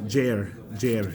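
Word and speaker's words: Gyre: I will throw this phone. Technically, I'd say it's pronounced Jair Strait. This is America. It's Jair.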